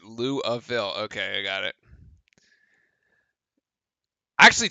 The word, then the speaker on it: Louisville: up his first Louisville oh natives pronounce it Louisville okay I got it